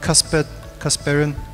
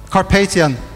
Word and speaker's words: Carpathian: aspirations that you have from the kasparian now Casper casperian mountains how do you pronounce it Carpathian carpesian mountains that's right the sprawl of objects